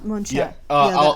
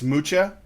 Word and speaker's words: Mucha: Well, it looks like it's Mucha or Mucha, okay, but it's pronounced Mucha.